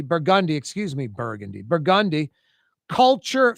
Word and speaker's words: Burgundy: ATF, federal agents, local agents raided a French Quarter spot on Burgundy. Burgundi, excuse me. Burgundy. Burgundi. Culture fashions on Burgundi. Culture spelled with a K was basically a big gun and drug outlet.